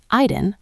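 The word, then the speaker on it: Aydın: Aydin, pronounced Aydin, is a region rich in history and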